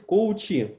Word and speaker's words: коучи: Также есть коучи, ударение на «и». Не коучи, а коучи.